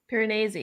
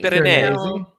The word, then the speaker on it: Piranesi: Piranesi. Piranesi. The audiobook is pronounced.